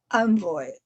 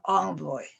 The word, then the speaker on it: envoy: was an envoy how this can be pronounced envoy or envoy two ways are both correct and he was an